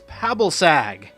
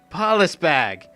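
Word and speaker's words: Pabilsag: This is Pabalsag, not Palisbag.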